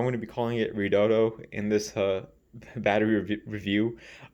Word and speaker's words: Redodo: the battery uh brand ridotto I'm not sure why it's called that uh some some other YouTubers have mentioned that it's pronounced red Auto uh maybe it might